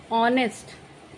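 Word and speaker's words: honest: क्या होता है कि एच जो है वो साइलेंट होता है एच साइलेंट होता है और हम ऑनेस्ट यहां से प्रोनंसिएशन करते हैं यहां से बोलते हैं ऑनेस्ट तो अ अ आ रहा है एस तो साइलेंट है तो यहां पे साउंड ओ का निकल रहा है ऑनेस्ट तो यहां पे हम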